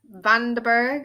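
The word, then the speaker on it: van den Berg: know what we've got it's it's that kid vanderburgh is how you pronounce it yes obviously he played really well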